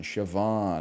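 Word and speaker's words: Siobhan: second nature to me it's sioban shoban okay shoban he's sort of an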